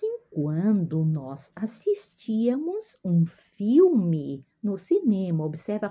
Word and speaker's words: filme: De vez em quando nós assistíamos um filme no cinema. Observa a pronúncia aqui, filme, né? O L que se pronuncia uma U e uma E final é I, né?